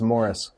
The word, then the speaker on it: Maurice: It's spelled Maurice, but he says it's Morris.